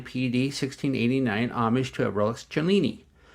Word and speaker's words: Cellini: Today we're going to review the Pagani Design PD-1689 homage to a Rolex Cellini. I had mispronounced it in an earlier video and said Cellini instead of Cellini, so I am correcting myself.